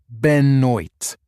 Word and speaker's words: Benoit: I pronounced the name slowly. Benoit.